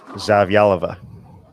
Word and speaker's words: Zavyalova: So Diana Z, what's the right pronunciation on that one? I always go with Zavyalova. See, and I can't get the yal in the middle of that one.